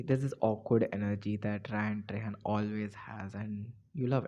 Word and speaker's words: Ryan Trahan: But there was this video from Ryan Trahan. I wanted to pronounce his name right.